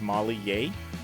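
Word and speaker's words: Molly Yeh: Her name is Molly Ye. It's spelled Y-E-H.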